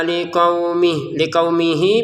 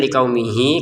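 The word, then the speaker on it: لِقَوْمِهِ: Wa idistasqa Musa liqaumihi, perhatikan ada ya, kita bacanya liqaumihi. Kalau kita gabungin sama yang setelahnya ya, liqaumihi fakulna, seperti itu. Kalau kita berhenti di sini maka panjangnya ha tidak ada, kita baca liqaumih, tidak ada panjang sama sekali.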